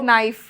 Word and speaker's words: knife: letters that are actually in words that we don't pronounce for no reason. Why? Yeah, You like know? knife.